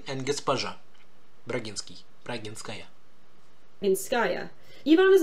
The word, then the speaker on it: госпожа: Gospodin Braginsky, or if you want to be a woman, Gospoja Braginsky. Oof on that pronunciation. Господин, госпожа, господин and госпожа. Russian stresses are not very regular.